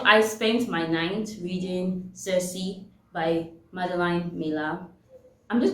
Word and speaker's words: Circe: was pronouncing cersei wrong i was saying says all this while until i heard that it was actually cersei not says so i saved myself